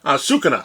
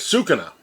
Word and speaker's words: Sukuna: iice and I keep on saying Kus uh suca sorry guys Suka my pronunciation is horrible so let's pull our Tab